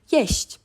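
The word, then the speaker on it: jeść: chi we just say yes yes it's very soft it's not it's yes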